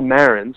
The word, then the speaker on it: Marans: Check me out on Twitter, Marans. By the way, it's emphasis on the first syllable.